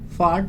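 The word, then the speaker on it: fart: फार्ट। यहाँ पर आपका आर जो है साइलेंट है, आपको आर को प्रोनाउंस नहीं करना है। फार्ट।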